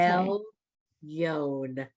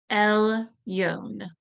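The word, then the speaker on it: עליון: It says silent letter, it's iron, it just sits there for no reason, but it looks like a Y, so you feel like saying Y. It's Okay. El Yon.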